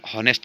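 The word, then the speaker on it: honest: देखिए जैसे आपको मैंने बताया हॉनेस्ट में क्या एच साइलेंट रहता है, आवर्स की बात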